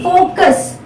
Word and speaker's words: focus: Now see, focus, focuses. Now the stress is also on the first letter, first syllable.